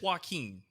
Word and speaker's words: Joaquin: it's spelled. Yeah. Yeah. I think it's Joaquin.